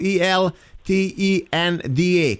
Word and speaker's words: El Tenda: ELTENDA. Correct? El Tenda. Correct. Yeah, with the S and the S at the end, like S. Tendas. Okay. And channel, like channel. El Tenda, like you spell it.